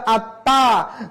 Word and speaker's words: আত্মা: বর্ণ সেজন্য চন্দ্রবিন্দু হবে আত্মা বলা যাবে না বলতে হবে আত্মা জীবাস্য এইভাবে উচ্চারণ করতে